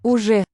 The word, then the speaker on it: Уже: This nice symmetrical Уже. letter in the middle of this word is a zh as in leisure, that sound. Gets its own letter in Cyrillic.